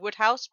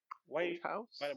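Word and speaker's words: Wodehouse: you before our listeners this woodhouse yeah wave house but it's spelled w-o-d-e house oh yeah because his name the name isn't english but it's it's wood house i just i just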